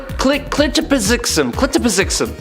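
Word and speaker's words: Kltpzyxm: the 5th dimension, which, if you're trying to say it correctly, is honestly a superpower in and of itself. Clitopizixum. I got it.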